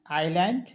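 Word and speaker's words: island: अब देख लेते हैं एस साइलेंट होता है आइलैंड और डेबी में कुछ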